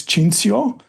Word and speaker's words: Cinthio: to mind so yeah in Italian it's chinsio uh which is a